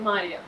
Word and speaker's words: Maria: Yeah, the Norwegians are calling me Maria. Maria, ja. Betyr ikke Maria. It's Maria.